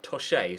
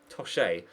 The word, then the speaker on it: Toshe: Been told by multiple people in the comment section that this guy's name is pronounced Toshe, so that's how I will pronounce it from here on out. Toshe.